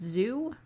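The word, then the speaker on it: Xu: james corrigan and chief engineer andre block it's pronounced zoo okay good mars needs moms i've heard of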